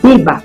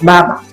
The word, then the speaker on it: biba: It is Biba, not Baba.